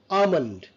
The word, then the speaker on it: almond: And L is silent over here. It's a almond.